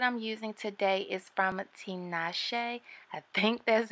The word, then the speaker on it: Tinashe: So the hair comes in this white box that has their name on it, and I believe it's pronounced Tinashe, kind of like the singer, right?